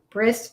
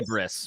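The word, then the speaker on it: Brys: I say Briss, but I say Briss. If there's a choice between like regular human name like Bryce or like fantasy name like Briss, I always go with the fantasy name.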